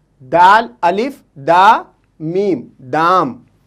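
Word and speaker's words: دام: दाल, अलिफ, दा और लाम, दाल, दाल, अलिफ, दा, मीम, दाम।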